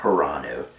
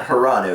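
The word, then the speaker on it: Hranu: see hiranu and his his name was spelled funny it was like h r a n u so i always pronounced it hiranu and i was like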